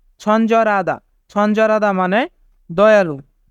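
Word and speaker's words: 친절하다: ছঞ্জরাদা ছঞ্জরাদা মানে দয়ালু এখানে রিউল বাচ্চিমের পরে হিউত থাকার কারণে হিউতের স্থানে রিউল বাচ্চিমটি যাবে তাই উচ্চারণ হবে ছঞ্জরাদা ছঞ্জরাদা মানে দয়ালু তো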